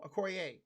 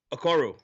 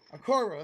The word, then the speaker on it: Okoro: If Okorie, wait, no, how you say his name? Okoro. Okoro, there you go.